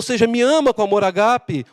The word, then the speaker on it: agape: usa a palavra agape a gente fala Ágape né mas a pronúncia certa é agape você me ama com